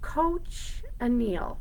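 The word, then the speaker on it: cochineal: a dying event and the beetle die is pronounced coach anneal coach Anil oh I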